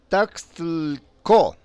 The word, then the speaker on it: Taxco: Tasco es una palabra de origen náhuatl y se pronuncia Taxtlco, que en español significa